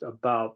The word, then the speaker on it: about: younger and both of them pronounced about the way Canadians do who if they were poets would would rhyme with snoot I couldn't feel too